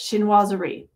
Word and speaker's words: Chinoiserie: So the pattern is called Chinoiserie, or Chinois, let's see, the French pronunciation the French pronunciation is like three syllables, Chinoiserie.